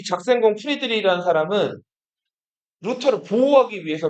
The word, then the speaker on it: 작센: 그러니까 이거를 영어로 읽으면 색슨이라고 읽는데 독일어로 읽으면 작센이라고 읽는단 말이에요. 작센 공 프리드리히.